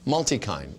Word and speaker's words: Multikine: Is that how I'm pronouncing it? Yes. Multikine.